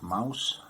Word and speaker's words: Maus: cover says the complete Mouse I mean it's m-a-u-s yes but that's how it's spelled in German uh but it's pronounced the same way as Mouse which is spelled as m-o-u-s-e in English uh you can see